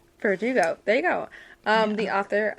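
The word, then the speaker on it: Bardugo: Lee Bordeaux, which I might still be saying her last name wrong. I think it's Verdugo. Verdugo.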